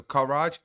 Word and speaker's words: Karaj: You guys gotta work on your pronunciation. So Karaj, Karaj, like Karaj.